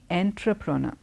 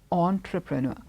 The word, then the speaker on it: entrepreneur: and E you are you don't say entra prana you say entrepreneur entrepreneur okay so it's it's a very common word you here so it's entrepreneur he's not enterpreneur it's entrepreneur and then the word